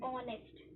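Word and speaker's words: honest: यहां पर ये जो हमारा एच है, ये एच साइलेंट है। ठीक है? और इसे हम पढ़ते हैं ऑनेस्ट।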